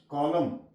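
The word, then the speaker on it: column: एच वाई एम एन सलम N silent है कॉलम and silent है य तो आगे आ जाता है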